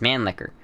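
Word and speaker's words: Mannlicher: like 90 I don't there's no other way to pronounce it that's just the way it is man licker it's like man lick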